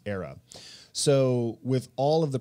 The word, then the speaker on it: AERA: catalytic endogenous reflective architecture which is abbreviated aera and you pronounce era so with all of